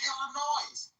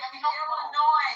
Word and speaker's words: Illinois: Illinois, not Illinois.